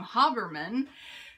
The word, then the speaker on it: Habermann: I learned how to pronounce her last name, Habermann.